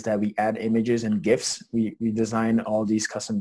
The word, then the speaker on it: GIF: all non-millennials out there the proper pronunciation is gif it's not jif clearly that's an ongoing